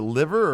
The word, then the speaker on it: Liver: Liver birds. Yeah. On it. Is it liver or liver? Well, I mean, it's spelled liver, but he says it liver.